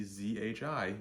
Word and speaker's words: zhi: so when you see zhi you should think J R the way you would pronounce Jr is okay CH hii think